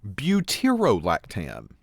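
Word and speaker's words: butyrolactam: this a butir and remember we squeeze that little o in there butero otherwise it looks a little weird so butero lactam is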